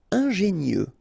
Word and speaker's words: ingénieux: Ingénieux. Final X not pronounced, so I-E-U, I-E, nieux. Ingénieux.